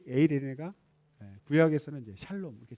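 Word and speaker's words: εἰρήνη: 이 평안을 우리 헬라어로 이제 에이레네라고 그러죠. 에이레네. 발음이 에이레네.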